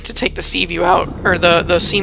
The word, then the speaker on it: Seaview: release the sea moth I'm pretty sure I was saying it wrong before and just kept saying C VI for everything uh side note I do think it's funny C view is actually from The